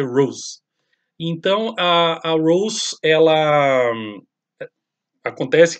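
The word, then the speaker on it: Roz: o nome de mulher se escreve RZ mas a pronúncia Rose então a Rose ela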